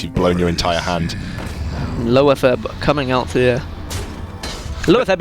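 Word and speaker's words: Loatheb: a lot of people say low Theb, and Sottle is one of these players that kind of says, no, it's lower Theb. And he tells people off. So I'm trying to think rightly so. It's spelled lower Theb.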